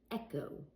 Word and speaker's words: echo: For example, echo. Echo. You don't hear an H. Echo.